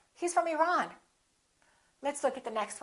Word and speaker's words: Iran: It should be the second one. He's from Iran. He's from Iran.